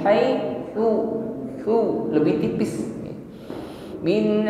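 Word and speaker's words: حيث: Perhatikan di sini huruf ta, jangan diucapkan sama dengan huruf sin, bukan haisu, su, tidak dengan bunyi desis, ya. Ta hanya diiringi dengan sifat hamas nafas yang mengalir. Sa, ti, tu, bukan haisu tetapi haitsu.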